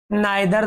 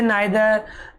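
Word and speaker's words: neither: इसमें हम पढ़ते वैसे नादर आदर इनका राइट प्रोनाउंस होता है नीदर और इदर लेकिन शुरुआत से नादर आदर ये पढ़ रहे हैं सेसे नीदर इधर होता है ठीक है देखि ये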